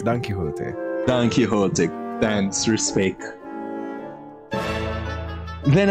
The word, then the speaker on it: Don Quixote: la dome quick swords there's a page from dumb quicksorts may i take it off your hands monsieur